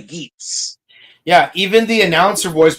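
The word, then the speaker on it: Geats: You see, Gates is the secondary, right? Yeah, that's how you pronounce it in G. No, in the show, if you watch it and hear it, they clearly say geese.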